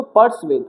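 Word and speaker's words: persuade: इसको यू नहीं पढ़ते। इसको व पढ़ते हैं। वेद पढ़ते हैं। वेद जो होता है राम ऋग्वेद, यजुर्वेद जो वो वाला वेद होता है यह वाला वेद। तो वो वाली प्रोनन्सिएशन आती है इसके अंदर। तो प्रोनन्सिएशन पे ध्यान नहीं देना। क्या पढ़ेंगे इसको? पर्स वेद।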